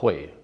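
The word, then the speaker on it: Huế: And I also now know how to pronounce it because I thought it was Hui or He or Ho, but the locals told us it's called Hue.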